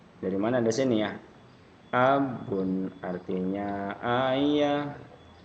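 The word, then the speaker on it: أَبٌ: Abun ya, jadi ada abun. Ini enggak ada tasdid atau apapun, lepas aja bacanya.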